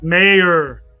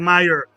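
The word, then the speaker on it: Mayer: Mayor. Mayor, not Meyer. Mayor, say his name right.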